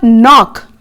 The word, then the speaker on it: knock: Next, in the word knock, here we have K as silent.